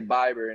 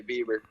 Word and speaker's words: Bieber: the last name right they used to say biber and now they get it right and say bieber um and uh no